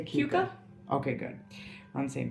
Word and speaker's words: Keuka: is that how you say it I say Keuka okay good on the same page because then